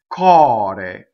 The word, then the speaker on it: core: Cɔre. So cɔre is an open O and a closed E.